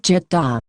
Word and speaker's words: 짓다: Pronouncing 짓다. sounds like jitta.